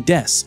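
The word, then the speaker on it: です: I just want to point out is his pronunciation here of death the s in Des often kind of goes down it doesn't get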